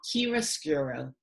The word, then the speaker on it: chiaroscuro: This idea, it has a name and it's called chiaroscuro. Chiaroscuro is Italian.